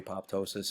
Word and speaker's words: apoptosis: to find no problem I am gonna defend myself for calling it a PO ptosis however because of the way the word is formed a PO means above pto sis is a word pto sis now let